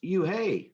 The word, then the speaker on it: Unhei: it's spelled u n h e i it's pronounced oh it's you hey the boy said like you hey what about